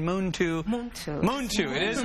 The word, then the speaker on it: Muntu: pronounce it because it it looks like MTU but we've been saying moon to Moon Moon to it